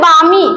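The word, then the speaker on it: balmy: आगे है बामी। इसमें एल साइलेंट है गाइस, देखिए एल है ना, ये एल, ये साइलेंट है, ये बामी है।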